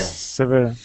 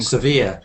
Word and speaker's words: severe: Severe. Strong. Severe. Not sever. If you sever something, you cut it off.